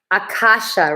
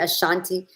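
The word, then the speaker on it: Akashic: Yeah, the records, I want to say it right, the Akasha records. I was calling it Ashanti.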